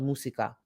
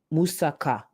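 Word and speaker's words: moussaka: Oh, I'm saying it wrong. Hold on. Musika. Hold on. I'm going to actually say it right. Where'd it go? Somebody literally just spelled it out phonetically for me. Am I slow? It's Greek, right? It's Greek. Okay. I knew I wasn't tripping. Musaka. Okay. Musaka.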